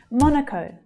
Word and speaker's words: Monaco: Monaco, Monaco. So the first syllable is stressed and the second syllable relaxes to become the schwa.